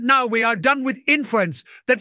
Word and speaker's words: inference: let's run this cell it is pronounced inference you put the wrong emphasis on the wrong s aable interface opened